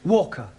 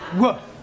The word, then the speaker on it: Walker: driver at Mrs Walker Walker what w is pronounced W your employer's name is Walker yeah Walker do you